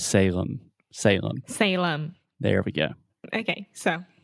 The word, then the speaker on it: Salem: And remember, whenever you have a word that ends with the letter M in English, we're going to close our mouth completely.